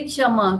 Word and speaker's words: क्षमः: जहां जहां विसर्ग है, दो बिंदु है, वहां पे प्रोनाउंसिएशन होगा, उच्चारण होगा क्षमः।